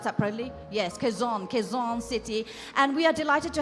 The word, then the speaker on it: Quezon City: Did I pronounce that properly? Yes, Quezon City.